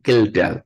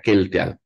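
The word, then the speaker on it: Kjeldahl: itu metodenya nanti menggunakan kildal sekali lagi B protein analisis itu adalah untuk total protein ya total protein itu apa ee dianalisis menggunakan metode keldal tulisannya nanti kejeldal Tapi bacanya keldal Ya kemudian kalau amino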